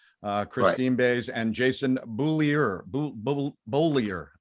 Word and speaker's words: Bullier: Bolyer. That's the way we pronounce it. Bolyer. I asked him.